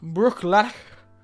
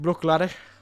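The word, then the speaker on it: Bruichladdich: So, tonight, we have from the Venerable Brookladdock. However you pronounce it, Brookladdock. It's very hard to pronounce their name. I've never been very good with Scots Gaelic. Let's get the pronunciation. Brooklady.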